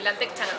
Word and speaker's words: Lantec Chana: ¿Lo pronuncié bien? Sí, Lantec Chana.